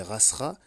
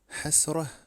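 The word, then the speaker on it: حسرة: parler tunisien, la derija, même pas lorsqu'il dit rasra. Pendant longtemps, je pensais que c'était pour adapter, pour franciser le terme. Non, l'individu ne sait même pas prononcer le ha, hasra.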